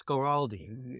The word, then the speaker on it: Guaraldi: this is originally written by the great Vince Guaraldi did I say his name work correctly yes